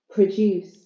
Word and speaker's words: produce: syllable so it's known produce produce second syllable stress so it's a verb thank you for your